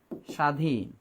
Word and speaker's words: স্বাধীন: আমি যদি বলি শয় বয় আকার, এই যে বর্তমানে বাংলাদেশ কি স্বাধীন, তার মানে আমরা স্বাধীনভাবে কথা বলতে পারতেছি, এটাই কি বলে স্বাধীন। তাহলে স্বাধীন বানানে আমি কিন্তু ব ব্যবহার করলেও এর উচ্চারণ করি না, তার মানে এইরকম হবে।